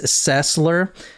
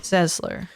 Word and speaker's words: Sesler: Ronda Weiss cesler now cesler is spelled s l r so I initially was searching like in the newspapers for two s's in the middle okay it sounds like it should be spelled s z s l e r